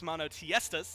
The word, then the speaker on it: MONOTEISTAS: So we will be watching Belt Slap, of course, MONOTEISTAS. That's how I've been told it's pronounced, and that's what I'm going to stick to until somebody tells me I'm wrong.